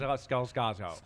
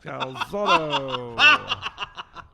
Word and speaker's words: Scalzotto: Scalzotto. Scalzotto. Your pronunciation was perfect.